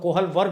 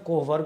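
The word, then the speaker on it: Kohlberg: जिनके अंदर Lawrence CoV जिसको हम लोग कोहल वर्ग भी कहते हैं शुद्ध प्रोनाउंस कोह वर्ग होता है जिसके अंदर करोल गिलिगन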